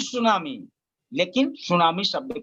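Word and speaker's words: tsunami: तो सुनामी, लेकिन सुनामी शब्द का ही प्रयोग करते हैं, अतः अंग्रेजी शब्द में भी उच्चारण में, प्रोनंसिएशन में साइलेंट है, इसलिए यहाँ भी हम आप साइलेंट कह के उसे सुनामी कह सकते हैं।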